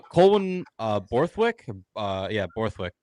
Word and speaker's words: Borthwick: Uh yeah, Borthwick, pronounced it right.